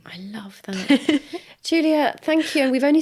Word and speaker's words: Giulia: Giulia is spelled the Italian way, which is a bit confusing. So it's Giulia.